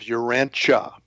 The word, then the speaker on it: Urantia: Um, we use the uh the pronunciation of Urancha. So, it's Uranchia Uranche book and um Urancha is purported to be the name of our planet.